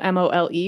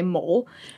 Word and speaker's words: mole: And they even give you a pronunciation because it's spelled M-O-L-E, which a lot of people seeing for the first time would say mole.